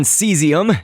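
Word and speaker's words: caesium: And so then I've just typed in seesium. It's pronounced that way, but it's spelled like caseium it might look like to you, but seesium is a chemical element.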